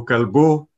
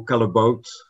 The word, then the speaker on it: Callebaut: Je m'appelle Calbo et on peut prononcer à la flamande parce que je suis belge-flamand, Callebaut, mais je dis souvent je suis belge mais je me soigne.